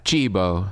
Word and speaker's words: cibo: Look it up. Cibo. That's how you say food in Italian. C-I-B-O. Cibo.